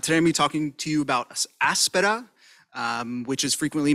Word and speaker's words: Aspera: here today I'll be talking to you about Aspera um which is frequently mispronounced the emphasis is on the first day